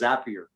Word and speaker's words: Zapier: called i think it's zapier i think it's yeah it is zapier because it's rhymes with happier it was a company